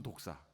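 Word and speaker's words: δόξα: 절대 우리의 것이 아닙니다 헬라어로 이 영광을 목사라고 합니다 복사 물은 독사 발음이 똑같아요 제가 신대원 1학년 때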